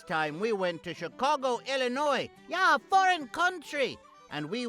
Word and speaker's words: Illinois: Vassa they don't pronounce it Illinois's it's Illinois like maybe sometimes a new